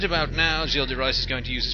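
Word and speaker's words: Gilles de Rais: This is Gilles de Rice, who is walking along here. That's how you pronounce it, in case you're wondering.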